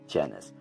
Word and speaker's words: Genis: about the word genus because genus is actually adapted from gen s and jan s is actually short for jen street but to make it easier to pronounce is it's set as janus and jenn street is